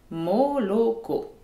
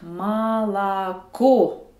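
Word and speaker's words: молоко: C'est écrit moloko, mais l'accent tonique tombe sur la dernière syllabe. Un O non accentué devient A. Le premier et le deuxième O sont en position sans accent. Donc, je dois dire malako.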